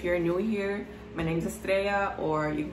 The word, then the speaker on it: Estrella: If you're new here, my name's Estrella, or you can call me if you don't know how to pronounce that same name, different language.